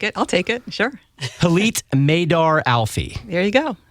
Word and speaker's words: Hillit: it reading it yes I think it rhymes with Elite because I would put you as Elite is that fair um okay no I'll take it I'll take it sure Elite maidar Alfie there you